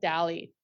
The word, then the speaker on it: DALL-E: DALLE 2, like DALL-E, like the artist, but now it's made by a machine. It's using spelled like Wall-E, right? like Wall-E, yeah. Like Wall-E, but with a D.